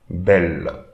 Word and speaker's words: belle: Now when you have E followed by double L, the first, E followed by the same consonant twice, the first consonant and the E will be used to create an accent on the E. So, E here in this case. Belle. So, be, and we are going to read this L because we don't read the E here. So, belle.